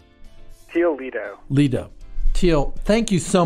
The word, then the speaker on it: Teel Lidow: Teel Lidow.